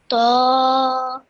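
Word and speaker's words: ط: Ta. Well done. Again, this is a nice, thick, heavy sound, and you did that well.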